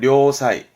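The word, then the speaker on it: 良妻: 그래서 발음은 료사이, 료사이.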